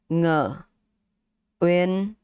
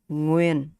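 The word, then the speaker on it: Nguyễn: So we have ng, u, I, e, n. Okay, so from this n, i, e, in, u, uyen, win, ng, win, ngwin. Okay, ngwin. And with the accent mark, it's like making a question. It's like making a question. So ngwin, ngwin. That's how you say it.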